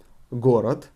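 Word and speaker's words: города: would be gorad again first the emphasis from the first or is false on the last ah gorath and gorad and plural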